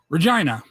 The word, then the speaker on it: Regina: skatan Canada is and I've confirmed that this is the pronunciation Regina re yeah GI and